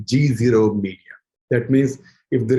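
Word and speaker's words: GZERO: And he's the president of Eurasia Group and also an organization which I have just learned from him to pronounce correctly, G0 Media.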